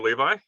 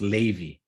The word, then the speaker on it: Levy: Good to see you, Levi.